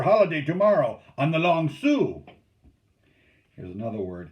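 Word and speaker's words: Sault: tomorrow on the long sioux here's another word s-a-u-l-t is pronounced sue don't ask me why it's the english language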